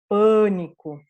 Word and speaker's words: pânico: É minha sílaba mais forte, é um fechado, não é A bem aberto, né? É bem nasalizado, porque na sequência eu tenho esse N, então ele é pânico.